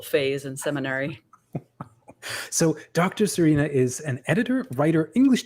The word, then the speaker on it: Sørina: Sørina Higgins. Have I pronounced that correctly?